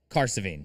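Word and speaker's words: Cahersiveen: The best was so we first got into Caravine, the city we were staying in. And by the way, that is spelled C A H E R S I Ven. Caravine.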